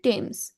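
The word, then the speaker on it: Thames: near হয়ার দা charter টেমস DOS flow এই টেমস নদী হচ্ছে দেখ এটার উচ্চারণটা কেউ টেমস বলে কেউ থেমস বলে কেউ ডেমস বলে এখন আমি সঠিক উচ্চারণ আমার জানামতে টেমস ঠিক আছে তারপর যদি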